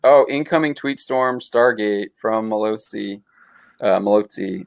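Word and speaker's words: Mallozzi: tweet storm Stargate from Malozzi. Malozzi. I'm saying his name wrong. I should know how to say that Italian name. Malazzi. It's probably Malazzi because usually two Z's is a TS sound.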